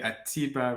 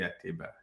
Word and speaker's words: Ateba: people say Atiba, but it's actually Ateba.